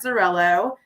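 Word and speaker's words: Xarel·lo: is a hundred percent zarello it's spelled with an X and it's silent just so you guys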